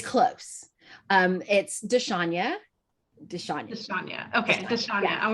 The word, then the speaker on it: Dshanya: You are consistent with the way that you pronounce it, even though it's slightly incorrect. And that's okay because it's close. It's Dshanya.